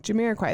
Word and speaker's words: Jamiroquai: Jamiroquai.